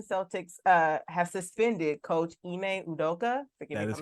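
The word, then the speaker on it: Ime Udoka: now the Boston Celtics uh have suspended coach ineudoka that is correct that is how you say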